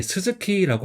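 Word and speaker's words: 鈴木: 성은 이제 스즈키라고 합니다. 일본에서 많이 쓰는 성이죠. 한자는 첫 번째는 방울령이고 그다음에 오른쪽은 나무이에요. 그래서 방울령은 스즈 그다음에 나무 키라고 읽어서 두 단어가 합쳐져서 스즈키라고 있습니다.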